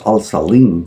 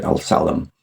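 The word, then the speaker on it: Al Salem: It's Al Salim, but I mean, in American, they would pronounce it El Salam.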